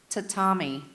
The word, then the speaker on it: tatami: Tatami. Tatami. Tatami. Word of origin, please. This word is from Japanese. Any other pronunciations?